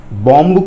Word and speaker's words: bomb: English में बम्ब जो होता है ना, ब साउंड साइलेंट होता है, सिर्फ म साउंड होता है, इसलिए बॉम्ब को बॉम्ब बोलेंगे।